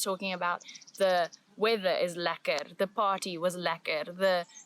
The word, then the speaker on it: lekker: Lekker.